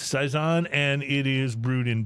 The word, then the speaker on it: Saison: brazer Dupont sprl I don't know how you pronounce that Saison Dupont it's Saison and it is brewed in Belgium and they